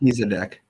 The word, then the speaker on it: Melchizedek: Melchizedek.